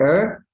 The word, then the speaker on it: heir: Heir, heir, H here is silent, heir, and heirs, heir, this